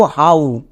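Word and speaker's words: how: ওকারে হ মানে হ কিন্তু আমরা এরকম উচ্চারণ করি না আমরা একে কষনো হো বলি না। কেন? বিকজ এটা হচ্ছে সাইট ওয়ার্ডস। এর জন্য আমরা উচ্চারণ করব হাউ। হো না। তাহলে এখানে কিন্তু ওডব আউ সাউন্ড দেবে। সো আমরা একে ভুল করেও হ উচ্চারণ করবো না। বোঝা গেল? এর উচ্চারণটা হবে হাউ।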